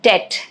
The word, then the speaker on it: debt: Silent B in debt reflects its Latin origin, debitum.